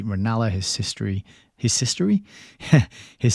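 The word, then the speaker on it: Ranelagh: come to the rescue with a correct pronunciation of lady ranala that's lady ranala his sister his sister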